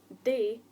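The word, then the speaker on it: dae: Day, pronounced like the word day, as in it's Wednesday, means do.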